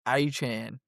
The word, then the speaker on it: Etienne: come out and said his last name is pronounced Achan.